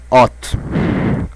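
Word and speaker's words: האָט: are going to see hot oh I'm sorry hot hot you have to pronounce this strong hot okay some people will pronounce OT that's why I said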